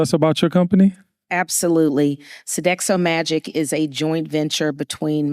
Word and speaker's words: Sodexo Magic: It's Sodexo Magic. Sodexo Magic. Make some noise, y'all. Black woman gonna get you together now. Can you tell us about your company? Absolutely. Sodexo Magic is a joint venture between Magic Johnson Enterprises and Sodexo.